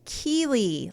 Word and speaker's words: Chele: Chele is pronounced Keely, like the character from Ted Lasso, whose storyline no one likes anymore.